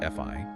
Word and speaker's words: Phi: Armstrong shared that the three key principles in the motto and the ritual were fi pronounced fi like hi-fi new and pi.